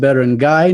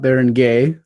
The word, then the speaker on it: barangay: Yeah, so it's funny, when we did our last video, one of my friends, shout out to Champ, he's like, it's pronounced barangay, not barangay.